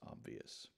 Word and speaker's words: obvious: And you really are adding a little Y sound in the middle of those two syllables, the V and then the yus, like Y-U-S, right? So putting it together slowly, obvious.